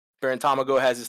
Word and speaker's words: Tamago: And like honestly, like and Tamago, how do you pronounce his name? Tamago?